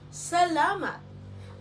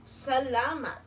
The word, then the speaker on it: salamat: The pronunciation of this is salamat. Repeat after me. Salamat. Again, salamat.